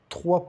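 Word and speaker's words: trois: Le chiffre 3, o S não se pronuncia, o número 3.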